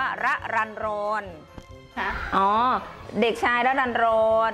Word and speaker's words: รรรรรร: เด็ก อย่าง เงี้ย คือ สามารถ อ่าน ได้ 2 แบบ รอน ระ รัน หรือ ระ รัน รอน อ่าน ได้ 2 แบบ ที นี้ พอ ถาม เขา ก็ บอก ว่า ชื่อ ของ เขา ว่า อ่าน ว่า ระรันรอน คะ อ๋อ เด็ก ชาย